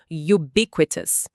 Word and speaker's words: ubiquitous: Pega a palavra ubiquitous. Eu sempre quero falar U bem aberto, mas não pode. Tem que começar com som de Y, tipo ubiquitous.